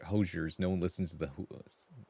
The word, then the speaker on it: Hozier: Whoops. Hozier, not Hoosier. Hoziers.